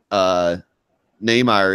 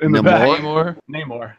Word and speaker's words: Namor: Neymar is Neymar. How do you say it? Namor.